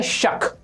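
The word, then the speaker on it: shark: form भर के लिए ए जो शार्क पढ़ा जाता है शक आर साइलेंट होता है आपके लिए पढ़ रहा हूं शार्क ताकि आपको सुने दे जाए वैसे ये शक होता है शक शक करते हैं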